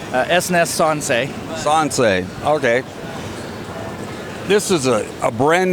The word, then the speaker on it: Sansei: Did I pronounce that right? S&S Sansei. Sansei, okay.